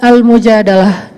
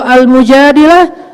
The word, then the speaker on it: al-Mujadalah: butuhkan terjemahannya curi curhat kalau al-mujadilah perempuan yang curhat kalau al-mujadalah curhat Jadi tergantung kita bacanya bilang atau darah kalau kita baca Mujadilah berarti perempuan yang lagi cure curhat kalau kita baca almujahadah berarti curhat itu sendiri surat al-mujadalah berkisah tentang